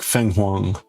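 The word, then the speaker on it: 凤凰: Yeah, okay, so the Chinese pronunciation is like Feng Huang.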